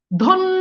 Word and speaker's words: ধন্য: ধন্য, দেখেন জফলা আছে এই জন্য দেখেন দয়ের সাথে ওকার চলে আসছে।